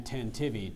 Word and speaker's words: tantivy: Riley ran tentivy toward second base after the bunt. Are there any alternate pronunciations?